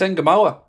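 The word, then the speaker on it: Ngumoha: It's Nemoa. I don't know how it's been slaughtered. That's the pronunciation of his name, is Nemoa.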